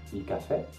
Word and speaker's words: caffè: C'est-à-dire que si vous voyez un mot avec un accent grave, vous devez le prononcer en insistant sur la dernière syllabe. Par exemple, il caffè, la città, la virtù, la verità.